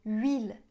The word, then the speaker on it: huile: OK, alors les H des mots huile, huître et huit ne se prononcent pas.